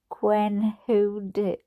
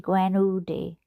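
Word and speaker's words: Gwenhudiw: Gwen Hoody. Do you know it's spelled chart, right? Gwen, Gwen, and same word, Hudiw, which would be Hoody, Gwen Hoody, Gwen Hoody, Hoody Hoo.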